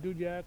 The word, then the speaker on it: Dudiak: I pronounce it Dudiak. Other people pronounce it Dudiak. Dudiak, okay. I try to make it 2 syllables, but I hear it from other people that seem to know what they're talking about as.